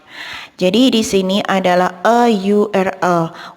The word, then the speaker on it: URL: Jadi di sini adalah a URL. Walaupun di sini adalah hurufnya adalah huruf vokal, tetapi suaranya adalah suara konsonan, maka artikel yang digunakan adalah a.